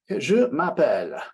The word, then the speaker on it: Je m'appelle: And we want to think about the pronunciation of the sound represented by 2 L's here. It's L. It's not ol like we use in California for many of our L's.